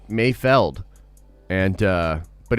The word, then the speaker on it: Mayfeld: my god trev says i like saying mayfield but i think it's actually pronounced mayfeld and uh but it's